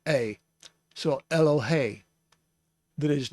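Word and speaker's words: אֱלֹהֵי: siri underneath the hay that means that it's pronounced a so elohey that is not the same as elohim but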